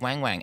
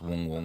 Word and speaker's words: Wang Wang: he's the panda Adela zo got to feed Wang Wang and then they're like it's not Wang Wang it's it's actually pronounced Wong Wong or something and I was like well he